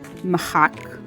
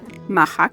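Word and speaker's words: מחק: An eraser is machak, colloquially pronounced machak as well.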